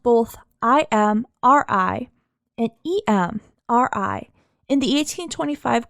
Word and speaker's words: Imri: It is spelled both I-M-R-I and E-M-R-I in the 1825 court records, and